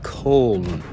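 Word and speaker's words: Köln: That's the American way of pronouncing it, but the German way of pronouncing it is Cologne.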